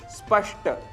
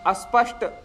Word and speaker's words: स्पष्ट: दोष माना गया है शब्द है स्पष्ट जिसकी जगह हम अस्पष्ट यह उच्चारण कर बैठते हैं स्थिति स्थिति इसके लिए